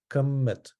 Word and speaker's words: kemet: So kemet, kem plus M is kem plus T is kemet. Or I guess something like kumat in the original pronunciation.